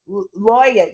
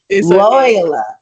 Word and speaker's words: Loyola: So So my next question is how did attending LSU because Loya you know I keep saying LSU and I thought Louisiana State University Loyola it's loyola.